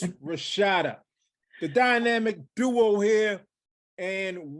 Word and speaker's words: Rashaida: Not the long A, all right, even though it's AI in her name. Say it right, people. It's Rashaida, the dynamic duo here,